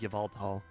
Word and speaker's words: Yveltal: The Yveltal. However you pronounce it. I like to pronounce it Yveltal because Y sounds a lot like an E most of the time, like it's a wannabe vowel.